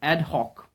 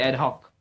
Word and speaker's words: ad hoc: Okay, it is an adjective, and here is the pronunciation ad hoc. It's ad hoc. Okay, or you can say ad hoc.